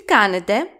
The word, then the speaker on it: κάνετε: The last word of this sentence is κάνετε. It has three syllables and the accent goes on the first syllable or the third syllable from the last.